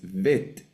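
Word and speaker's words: בית: Ahora la pronunciación es vet, como el nombre de la letra, vet.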